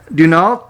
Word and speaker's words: Deneault: we're speaking with the eso drummer uh dunal today is that how you pronounce the name your name you got